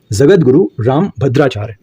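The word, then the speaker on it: जगद्गुरु रामभद्राचार्य: इसका सही आंसर है, जगत गुरु रामभद्राचार्य सही प्रोनाउंसिएशन है इसका। क्वेश्चन नंबर 33 का जगत गुरु रामभद्राचार्य इज the correct answer, so option C is correct answer.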